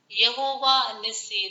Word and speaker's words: Yehovah Nissi: So here we are going with the name Yehovah Nissi. This is the Hebrew pronunciation.